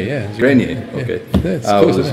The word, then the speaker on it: Grenier: Is that how you pronounce it? Grenier, yeah. Grenier, okay.